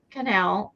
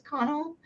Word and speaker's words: Connell: Um, I only stayed in line for one person and that was Ruth Canal. Connell, I think it's Connell. Is that how you pronounce it? C O N E L L.